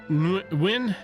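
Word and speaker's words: Nguyen: I think Win is how you're supposed to pronounce that. This was cool. I didn't, like, have a burning desire to check out Volume 2 or anything after that, but the art was cool. It was different. If I see it, it's pronounced Win. Thank you.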